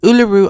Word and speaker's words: Uluru: taken me quite some time to get that pronunciation right uluru Australia right smack in the middle of this